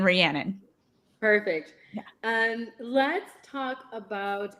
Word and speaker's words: Rhiannon: Yeah, it's Shannon Rhiannon.